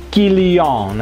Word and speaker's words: Kylian: kalau sudah berhenti sebegitu bertanya kenapa kombinasi and berbunyi Om dan si igrek to di depan itu berbunyi i ya jadi kilyon abis ini tidak seperti